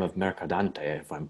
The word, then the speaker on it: Mercadante: And then the next piece, I'm seeing a composer by the name of Mercadante, if I'm pronouncing that correctly.